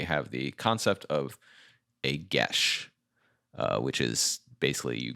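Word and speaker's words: geas: i finally learned yes it looks like gay ass or something like that but it's get it's well no it's apparently like irish or something danny exactly yeah exactly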